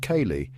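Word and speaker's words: ceilidh: This music comes alive at a killlet, pronounced kayali, which is a traditional social gathering with music and dancing.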